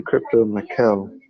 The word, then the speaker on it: CryptoMykel: It's actually CryptoMykel.